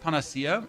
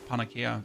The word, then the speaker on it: panacea: Isn't it pronounced panacea? I mean sir I'm I'm non native for me it's panaka because that's how it's written. I'm I'm not responsible for English being weird.